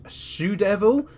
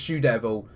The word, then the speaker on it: TzuDevil: a best out of three the youtuber is sue devil that spelled the Japanese way baby puto me it's pronounced shoe devil so we'll go with that and now as